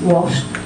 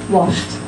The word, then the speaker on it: washed: it into the past washed washed if you listen carefully I'm putting the T sound on the end washed and dimes is